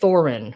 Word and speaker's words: Thorin: Not like a thorn, but Thorin.